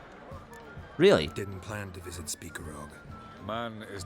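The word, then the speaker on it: Spikeroog: So it is pronounced as Speakerrog.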